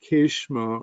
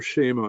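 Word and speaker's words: Kshema: or the 6th house, they call it Keshma, or Shema is actually the pronunciation in Sanskrit, Shema Vimshottri dasha.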